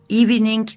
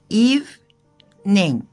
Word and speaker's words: evening: Bir kere okunuşuna dikkat ediyorsun. Evening değil. İki hece. Evening. Sonda da G yok.